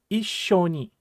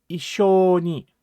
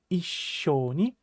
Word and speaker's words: issho ni: So, the correct pronunciation should be Issho Ni, and not Issho Ni. Please make sure that you're putting an adequate pause between the single E sound and the sh sound, like Issho Ni, ne?